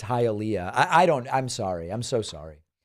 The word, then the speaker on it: Hialeah: Rich says, sir, with tears in the eyes, it's pronounced Hialeah.